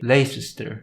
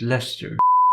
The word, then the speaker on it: Leicester: are a bit strange the logical thing would be to say lay sister yet you pronounce it Leicester so then we have